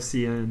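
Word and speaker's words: cin: were like English speaking since birth yeah and they're very defensive of it yeah really yeah like and sin instead of CN but but I mean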